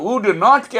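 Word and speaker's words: wouldn't: এরপর উড নটকে আমরা লেখার সময় লিখব, কথা বলার সময় উড নটটা উডন্ট হয়ে যাবে, উড নট উডন্ট হয়ে যাবে।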